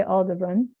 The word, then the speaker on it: Aldebaran: like sort of joking arguments about how to pronounce things. But I'm going to say Aldebaran.